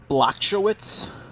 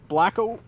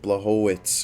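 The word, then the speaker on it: Błachowicz: Sounds like Jan Blacko. No, there's no K. You don't say the K. It's like Blachowicz or something like that.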